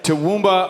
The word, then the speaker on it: Toowoomba: Toowoomba, Australia.